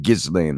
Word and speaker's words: Ghislaine: Ghislaine, I think it is, Maxwell, by Virginia Giuffre, who's claimed to be one of the victims of Epstein's sexual assault crimes.